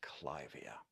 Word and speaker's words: Clivia: Anyway, named after Lady Clive, it should be pronounced Clivia.